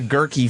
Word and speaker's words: Guerke: the last name of Girkie? Gerie. Right. Right. Is that what is girky? He said it just rhymes with turkey. Yeah. He said it's the gerky family.